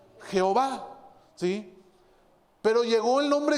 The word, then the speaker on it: Jehová: en el hebreo que hoy traducido al castellano se pronuncia pronuncia jehová sí pero llegó el